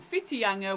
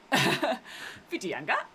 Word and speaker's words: Whitianga: But yeah, search again Whiteinga, which is spelled Whitianga. Whiteinga.